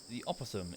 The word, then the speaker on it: opossum: Is it pronounced the same way, just possum? What's with the O? Often simply referred to... I see, yeah, drops the O. So just the possum. They're both possums. Okay. The O is silent.